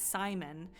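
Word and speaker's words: Psymon: I cannot remember his it's Simon but it's spelled PS y m o n and it that's like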